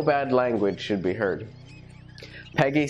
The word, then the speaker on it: PEGI: the pan-european game information PEGI is pronounced as Peggy so it's a European